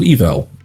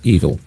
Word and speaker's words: Evel: Then there's the bad guys, represented so far by a girl called Evel, definitely not pronounced evil, who seems to be able to control monsters and use mirror magic.